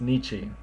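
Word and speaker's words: 日: before the sound e it's no longer Niti it's Nichi because you can't say t in Japanese anymore it's Nietzsche but in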